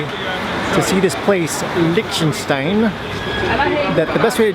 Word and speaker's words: Liechtenstein: I'm gonna continue to try and pronounce this thing right. It's Liechtenstein.